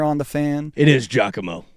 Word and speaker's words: Giacomo: It is Giacomo. It's Giacomo? Okay, gotcha. Just listen to the announcement. Here's how to pronounce Giacomo.